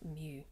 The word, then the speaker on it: mu: stick on the side it's the greek letter mu you pronounce that mu the mean for probability is also called the